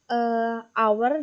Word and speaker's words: hour: An hour itu kan tulisannya hour sendiri tulisannya adalah H-O-U-R, H-O-U-R, tapi dia dibaca hour, jadi dia pakai n, bukan pakai e.